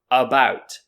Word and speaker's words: about: a very common example so the word about about so many people learning english they might think this is pronounced about because it starts with the letter a but actually this a